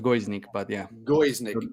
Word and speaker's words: Gojznik: talking today with church guznick guznick yeah it's hard it's hard to pronounce it it's like it's pronounced goes Nick but yeah go is